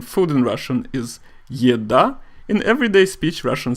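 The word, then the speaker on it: еда: correct way of saying food in Russian is ya da in everyday speech Russian say EDA now the letter A as we said is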